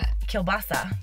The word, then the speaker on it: kielbasa: calabasa yeah ciabatta yeah how do you say kielbasa I say calabasa oh I was like Kay well there's different kinds kielbasa that's how I say it bleep a